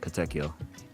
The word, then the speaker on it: Katekyo: Katekyo Hitman Reborn. Yeah, you got it. Katekyo.